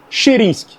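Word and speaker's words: Chyhrynskyi: o outro zagueiro, olha, o nome é bem difícil, Sheirenski, mas olha, não é não é tão simples como se é pronunciar. Olha, vou soletar para vocês. C H Y H R Y N S K I Y Shirinsk, beleza?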